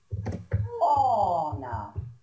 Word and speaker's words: honor: In this case, you must not pronounce the H. Okay, for example, an hour. An hour. An honest man. An honest man. Mm-hmm. An honor.